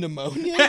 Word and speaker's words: pneumonia: was like Sega Genesis the p is silent and pneumonia are you [ __